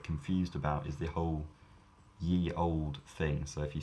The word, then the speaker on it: ye: of radiation so indeed if you see something that says ye olde it should be pronounced the old this is true but